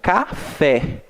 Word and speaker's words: café: Assim como café, né? Eu pronunciei um pouco mais forte o fé, né?